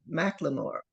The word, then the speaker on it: McLemore: I have McLemore. Did I say that right? Yeah, she said it right. All right. Kind of like the rapper, but not Oh, spelled the same.